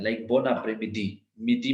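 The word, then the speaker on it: madame: Then we have मादाम, जो उसके लिए लेडी के लिए बोलते हैं। सी, ये तो इजी, एम ए मीन्स मा दाम, लास्ट ई हमने प्रोनाउंस नहीं करना, सो इट इज मादाम।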